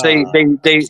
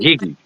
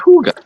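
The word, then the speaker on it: hygge: I was thinking higgy, right? That's how I'd pronounce it, higgy. But no, it's hooga, Huga. of course, Well, because it's Danish.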